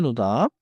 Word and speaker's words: 노답: 노답은 짧게 노답. 너무 세게 끊기보다 한 덩어리처럼 말하면 자연스러워요.